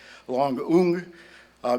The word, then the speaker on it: Loung Ung: I asked her if she could say Dombrowiak, and she tried, and I'm trying to say her name properly too, so it's Loung Ung.